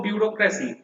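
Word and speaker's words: bureaucracy: বিউরোক্রেসি আমরা উচ্চারণটা এইভাবে করব বিউরোক্রেসি।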